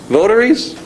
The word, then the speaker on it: votaries: Votaries?